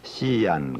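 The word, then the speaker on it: 西安: 선역 서자 편안한 자 옛날 장안이 우리는 서안 그러죠 중 사람들은 씨안 그럽니다 그렇잖아요 그러니까 중국 사람들이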